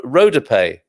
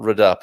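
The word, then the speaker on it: rodapé: be our palabra dodea is um should be pronounced radappa or rod rodape rudope okay not read up as i was trying to say and maybe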